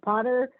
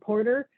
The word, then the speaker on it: Potter: to be mispronounced right my last name is Potter I get mad when I get called porter and that's the simple